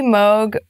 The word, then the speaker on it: Moog: once and for all is the Moga Moog I say mogh but I learned recently that Bob Moog was okay with any pronunciation second beat can be